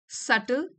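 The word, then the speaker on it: subtle: This सटल, B silent है इसमें, this सटल shift in thinking can amplify your potential.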